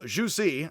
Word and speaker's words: Zhu Xi: z-h-u-c uh like hsi which is x-i so juicy i sometimes say uh joke it's juicy like